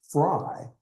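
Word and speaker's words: Frei: And she said, this is Frye in German. This is how it's spelled.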